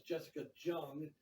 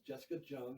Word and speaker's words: Jessica Jung: stores her name is jessica jung and that's how you pronounce it you say the j is not silent you know it's jessica jung she was a member